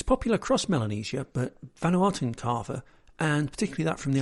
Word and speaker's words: kava: The final thing I want to say about Vanuatu is the substance known as kava. This is not in any way related to the French sparkling wine of the same pronunciation, but rather it's a